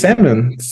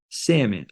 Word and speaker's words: salmon: Salmon. Yeah. Salmon.